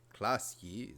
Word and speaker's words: Klasje: Klasje is pronounced Klasje. Yes, we get it. The J's are kind of Dutch.